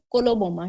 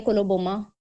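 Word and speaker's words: coloboma: Glaucoma नहीं कोलोबोमा। ठीक है? कोलोबोमा सी से स्पेलिंग है इसके सी ओ एल ओ बी ओ एम ए कोलोबोमा।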